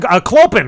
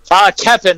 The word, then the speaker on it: Keppen: Kloppen, right? Keppen. The O is silent. It's weird Dutch.